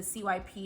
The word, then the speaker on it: CYP: So the CYP is actually pronounced CYP.